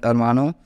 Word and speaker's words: hermano: hermano in Spanish but pronounced as almano because H is silent because it comes in